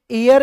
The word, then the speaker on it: heir: ये दोस्तों हेयर नहीं है, ये एयर है। क्या है? एयर। इसका उच्चारण होता है एयर, और एयर का मतलब